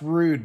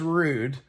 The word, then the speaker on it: Ruud: know the rheem or rude brands and it is pronounced rude by the way uh if you say